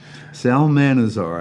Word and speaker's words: Salmanazar: believe it's called a Salmanazar, which is wine talk for 9 liters. It kind of sounds like salamander to me, but Salmanazar, I looked it up.